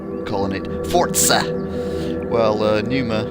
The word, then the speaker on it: Pneuma: it Forza well uh Numa is uh has got a visible P but it is silent going to do speedrun